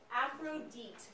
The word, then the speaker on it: Aphrodite: Aphrodite. Aphrodite. Aphrodite is how the Greeks pronounce it.